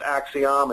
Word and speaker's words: Acxiom: to spell the name I think it's pronounced axom it's acxiom they're a